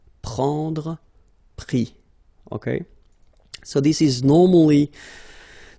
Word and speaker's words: pris: And then prendre, so ENDRE will give IS, pris, okay. Same thing here, you don't pronounce the final S, okay.